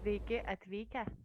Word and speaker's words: Sveiki atvykę: Sveiki atvykę.